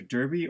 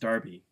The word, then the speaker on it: derby: Manchester City which is also known as the Manchester derby or is it pronounced Darby it's pronounced Darby but their music simple it's kind of Derby is the American pronunciation Darby is the English pronunciation okay if somebody came